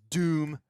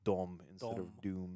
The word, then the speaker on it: Victor von Doom: time well no but if the original spelling is that dohm then it would be more like dom this is a fascinating